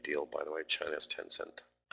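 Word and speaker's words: Tencent: by the way China's 10-cent that's how you pronounce it anyway major position they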